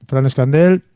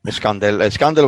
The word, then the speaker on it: Escandell: Fran Escandell, creo que he pronunciado bien el apellido, ¿no? Sí, señor. Escandell o Escandell, está bien.